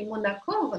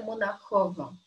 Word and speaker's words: Монахова: Так что я произнесу как по-французски «монакова», но это «монахова».